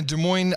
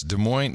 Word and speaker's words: Des Moines: don't ah yes so I'm here in a Des Moines Iowa John as they like to call it Des Moines yes Des Moines now this was called Des Moines they do not they absolutely do not call